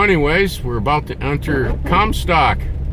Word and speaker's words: Comstock: So anyways, we're about to enter Commtock. Pronounced Commtock.